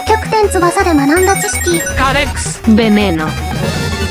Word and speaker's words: Veneno: 20000 credits Veneno (This is the Spanish pronunciation) I gave Veneno 3 stars.